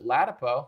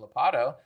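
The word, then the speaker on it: Ladapo: put someone like a Joseph latipo who I've been saying his name wrong calling him lapado this could have looked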